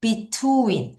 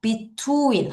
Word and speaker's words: between: 다시투윈 자비트 윈 W가 워. 그다음에 E이가 두 개 있으면 E. 그래서 여러분 따라하세요. 다시 자 내가 조금만 더 정확히 발음할게. 이따 음원도 들어보겠지만 다시 할게요. Bet인 다시 between윈 한 번 더 between투인 하면 뭐뭐 사이에가 됩니다.